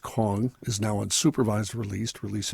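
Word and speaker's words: Kueng: uh Alexander uh I believe it's pronounced Kong is now unsupervised released released in January of this year and Thomas Lane released in August 2024.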